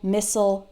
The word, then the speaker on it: missile: All of those words end in I-L-E, and I, as an American English speaker, pronounce the I-L-E like ol. Fertile, fragile, missile, versatile, hostile.